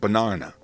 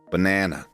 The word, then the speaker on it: banana: Somebody from Manchester, Sydney, or Auckland will most likely pronounce it banana, as in arm, banana. At the same time, someone from Chicago and Vancouver is almost definitely going to say banana. Both are different and both are right.